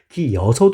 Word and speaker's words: 기어서: 흥미로운 점 은 ' 기여서 ' 또한 표준 발음 으로 받아들여지고 있다는 것 입니다 . 표준 발음 은 일반 적 으로 규칙 을 따르지만 , 일상 적 인 사용법도 허용 합니다 . 사람들 이 'gieoseo' 와 'giyeoseo' 라고 자주 말 하기 때문 에 둘 다 표준어 입니다 .